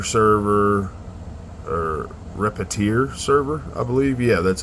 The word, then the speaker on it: Repetier: Then from there you can select whether you want OctoKlipper, OctoPi, Repeater server, or Repetier server, I believe.